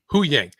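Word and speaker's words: Huyang: Hu Yang. When he's instead of Hu Dat, it's Hu Yang.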